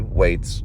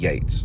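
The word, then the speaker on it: Yeats: though I was talking about WB weights on my Facebook sorry WWB Yates sorry wrong wrong pronunciation I think we all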